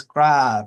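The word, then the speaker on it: Graves: It is Grave, as in groove.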